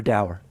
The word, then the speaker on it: dower: doer or dower? Dower. Oh, right. Okay, I like Joe. I like Joe better. It's I don't- doer what- and it's schism.